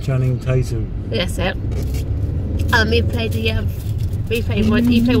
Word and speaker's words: Channing Tatum: And then Chaitun Tatum. Is that how to pronounce his name? Chaitun Tatum? Channing Tatum.